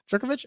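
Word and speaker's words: Jurkovec: Jerkovich.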